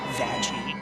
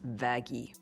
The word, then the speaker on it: Vaggie: I named you after the best thing ever vagi actually it's pronounced vagi if Adam is who created The Exorcist then